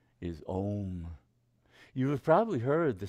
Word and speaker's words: Om: When one pronounces Om, the sound starts in the back of the mouth as an ah. Then it fills the mouth cavity as it goes, oh, right?